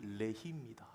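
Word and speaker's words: לחי: 사람들을 죽인 도구가 턱뼈인데이 턱뼈가 히브리어로 발음이 레히입니다 그러니까요 레히 지역에서 죽을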